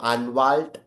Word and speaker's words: Anwalt: Lawyer is going to be your अनवाल्ट.